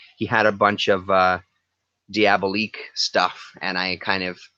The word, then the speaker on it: Diabolique: for that stack of Diabolique stuff or diabolic er Diabolique I believe is how you pronounce it but I would love